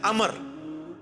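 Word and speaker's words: عمرو: वो लफ्ज गलत है लफ्ज़ उम्र तो कोई लफ्ज़ नहीं है लफ्ज़ है अमर लिखा होता है उम्र लेकिन उसका मतलब वो जो है वो साइलेंट होता है और वो का मतलब यह है की आपने इसे पेश की बजाय उम्र की विजय पढ़ना है अमर तो हज़रत अल्लाह इसका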